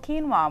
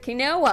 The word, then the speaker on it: quinoa: got that then something called quinoa which some people can't pronounce I used to call it I I'll tell you i called it a no well and I thought I